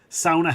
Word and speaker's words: sauna: Sauna has one pronunciation. If you can't go ow, let me kick you in the shin and hear you say ow.